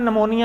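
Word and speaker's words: pneumonia: नहीं जाता साइलेंट है जैसे इंग्लिश में निमोनिया है उसका पी हम नहीं पढ़ते इंग्लिश में इसी तरह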